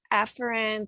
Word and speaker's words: afferent: system can be divided up into either the afferent or afferent division and then the other choice is the efferent or efferent division so the term afferent is the or the pronunciation afferent is really the correct pronunciation but